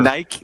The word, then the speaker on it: Nike: unforgivable almost unforgivable um nike chauffeur no that's how do you pronounce it nick nick schaefer nike nike thank you like that nice chauffeur nike chauffeur is